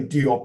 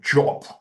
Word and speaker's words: Diop: I mean, we say Diop in the English-speaking world, but apparently it's pronounced Jop.